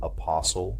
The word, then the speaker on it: apostle: Remember that T is silent in often. Other examples are apostle, epistle, soften, and hasten.